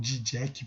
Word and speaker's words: Žižek: Para encerrar esse vídeo, eu vou deixar um trecho de um filósofo esloveno chamado Slavoj Žižek, ou Žižek, parece que é a pronúncia mais correta, mas escreve Žižek, que ele fala um pouco sobre a ideia de ideologia.